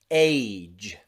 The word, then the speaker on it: age: okay all of them finish in that j sound okay the e on the end is actually silent so we have that j as the final sound let's practice age age rage rage stage